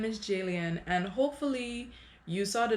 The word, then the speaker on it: Jaliane: ado let's get started hey it's j leanne rhymes with alien like if you're a fan comment and subscribe hello my name is jalien and hopefully you saw